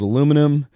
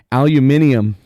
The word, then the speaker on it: aluminium: I think it was aluminum Titanium or aluminium if you're British apparently that's how that's how it's said um and uh power